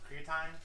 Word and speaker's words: creatine: It's pronounced creatine. Creatine? Let's make sure we get the vernacular correct.